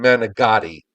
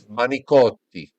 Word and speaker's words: manicotti: Tyler, there is no G in managatti.